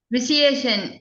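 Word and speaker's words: vitiation: विशिएशन, इसमें टी I actually silent होता है, उसका शा साउंड आता है। ट्यूशन में आता है ना, ऐसे आता है।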